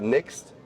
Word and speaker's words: NXT: une cabine qui s'appelle la Next qui s'écrit NXT et c'est une carabine